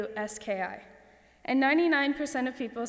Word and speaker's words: Zgardowski: I politely correct them and tell them the G is silent and that I'm used to it.